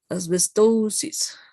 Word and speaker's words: asbestosis: Yes, this O as if an O and a U were mixed. Asbestosis.